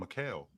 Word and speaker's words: Mikal: Why are you saying his name like that? That's how you pronounce it. That's his name, Mikal.